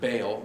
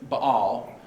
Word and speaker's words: Baal: are all following after most people pronounce it baal but it's ba all not that it really matters